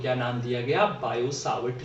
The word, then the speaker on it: Biot: वैसे ये बायो नहीं, ये बायोट होता है। इसमें यहाँ जो टी होता है वो क्या रखा जाता है?